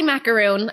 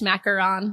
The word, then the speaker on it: macaron: I say macaroon. Okay. I mean, technically, I guess macaron. Yeah. But I feel a little pretentious saying it like that.